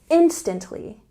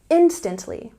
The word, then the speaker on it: instantly: very quickly say instantly we have a stress on the first syllable instantly instantly he replied very quickly